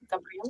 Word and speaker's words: Gabriel: Gabriel? Gabriel?